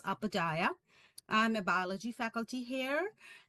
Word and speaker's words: Upadhyaya: last name pronounces Upadhyaya.